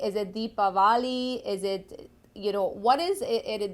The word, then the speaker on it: Deepavali: really want to know what is the correct pronunciation as well as the correct word. Jai Shri Sitaram. First of all, Shastras declare that proper word is called as Deepavali.